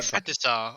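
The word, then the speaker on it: petit saut: Patisa. Okay. The T is silent because it's French.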